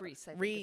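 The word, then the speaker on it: Rhys: Rise? Philip Is that- Reese, I think is how you Reese.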